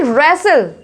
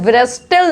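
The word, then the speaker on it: wrestle: रेसल। क्या पढ़ेंगे इसमें? रेसल पढ़ेंगे, ठीक है। इसमें डब्ल्यू भी साइलेंट है, रेसल, ब्रेस्टल नहीं पढ़ेंगे, रेसल।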